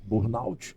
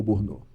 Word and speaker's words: burnout: E aí eu quero te perguntar, eh, burnout ou burnô? Muita gente fala burnô, que eu já escutei, né? Então tem essa questão de pronúncia. Sim. É, eu costumo falar mais burnout mesmo.